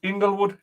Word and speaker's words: Inglewood: in the city of Inglewood, California, which is a suburb to Los Angeles. The I is pronounced with a long sound, not a short. It's the long letter I.